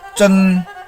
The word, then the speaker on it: zhen: ZHEN is pronounced as chen, ZHEng is pronounced as cheng.